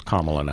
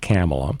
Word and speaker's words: Kamala: about Kamala Harris and we all know how to pronounce her first name it's calm alone I was not camel and the news here